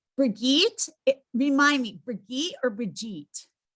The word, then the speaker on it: Brigitte: Okay, Brigitte, remind me, Brigitte or Brigitte? It's German, so it's Brigitte, but you may call me anything you would like to.